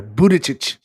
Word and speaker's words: Buttigieg: Buttigieg. Yeah, Buttigieg.